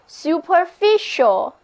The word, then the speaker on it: superficial: surface 表示事物的外表，例如我们说 the surface of the earth， the surface of the earth 就是指地球的表面。最后我们来接触一个同样讲表面的单词 superficial，字母 c 在 ial 之前发 sh 的音，整个单词就读作 superficial，在表示脸面的词根 fic 之前加上表示在什么之上的 super 前缀，后面是 ial 的形容词后缀，整个单词连起来就表示表面的。注意它跟 surface 不同的地方是，这个单词带有一点小小的贬义，同时还表示肤浅的、浅薄的。例如我们可以说superficial mind， superficial mind 就是浅薄无知的头脑。我们以前接触过关于说的词根 dic，还记得吗？今天我们学习另外一个关于说的词根 fat。